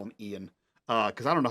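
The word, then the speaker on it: Eoin: I'm gonna call him Ian uh because I don't know how to pronounce his name um uh you it's it's like e i o n uh so it's Ian um so you you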